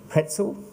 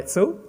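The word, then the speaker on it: Pecl: So first of all, I'd like to introduce Greta Pretzel. Without the R, but yeah. Petzel, I'm getting it better.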